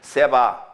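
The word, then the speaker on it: סְבָא: 그러니까 정확하게 발음은 앞에 거는 세바, 뒤에 거는 쉐바. 다 같이 세바, 쉐바. 예, 그렇게 발음해야 돼요.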